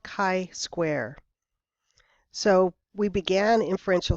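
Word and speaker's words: chi: using something called the kai Square distribution so it's pronounced Kai like kite not like chai T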